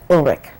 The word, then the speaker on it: Ulrich: hello could you tell me your name and spell it for me okay my name is ulrich maiden name is named